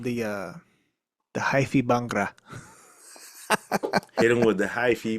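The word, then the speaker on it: bhangra: Hell yeah, the The Bangra.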